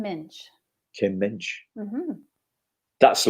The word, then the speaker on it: Muench: It is like pinch with an M, so Kim Muench.